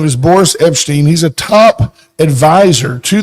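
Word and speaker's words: Epshteyn: s t y n Epstein it's almost like Epstein but it's not almost but there's an sh in there so his name is Boris Epstein he's a top advisor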